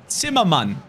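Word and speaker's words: Zimmermann: Zimmerman. That's how you say his name. I'm German. Why am I saying his name like in an English accent?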